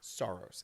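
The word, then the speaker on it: Saros: Um, Soros. Do you remember what that game is? Is that how you pronounce Soros? Soros.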